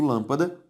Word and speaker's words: lâmpada: isso uma palavra proparoxítona se eu separo lâmpada lâ a sílaba tônica é a anti penúltima e por isso lâmpada possui o assento circunflexo tudo bem segunda regra